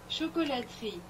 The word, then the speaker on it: Chocolaterie: In September 2016, they came out with Antique Chocolatierie, which looks like chocolatierie, but it's pronounced chocolaterie.